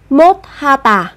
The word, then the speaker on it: 못하다: cũng nối âm lên, chúng ta cũng sẽ nối âm sờ kết hợp với hờ. Các bạn sẽ phát âm thành âm thờ, sẽ là 못하다, 못하다.